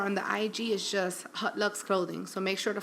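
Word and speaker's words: Haute Luxe: that's .com, or on the IG is just Hot Lux Clothing.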